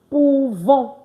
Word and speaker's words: pouvons: I did not say nous pouvons. No, I said nous pouvons, meaning what?